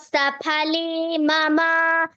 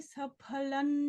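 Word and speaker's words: सफलं: यह जो जकार है आगे तो जकार में जो अनुनासिक है वैसा उच्चारण करना है। अमे सफल जन्म फिर से कहिए अ्यमे सफलन जन्म नेत्र च सफले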